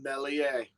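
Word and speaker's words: Meslier: with our goalie elon mellier the s is silent it's drilled into me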